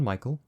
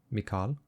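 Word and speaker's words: Mikal: thee blonde toby mikhail no not michael michal the e is missing much like this guy's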